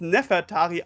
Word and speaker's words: Nefertari: warum ist so wichtig dass nefeltari jetzt neferari ausgesprochen wird nun müssen wir ins